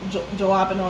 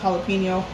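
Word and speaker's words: jalapeño: And please note, I know it's not called jalapeno, it's pronounced jalapeno.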